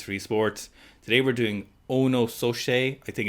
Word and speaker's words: Ono: telling us how it sounds if you say in an irish accent it sounds like you're saying oh no oh no so we've got ono shay on today he